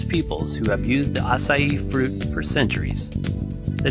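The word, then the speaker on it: açaí: on a budget what are assai berries asai pronounced asai is native to one of the largest biodiverse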